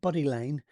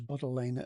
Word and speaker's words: Buddle Lane: So I put Buddy Lane, and it wasn't. It was Buddle Lane.